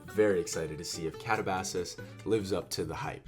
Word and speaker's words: Katabasis: So I don't know about you, but I am very excited to see if Katabasis lives up to the hype. She says it differently. Pronounces it Catabasis. Catabasis.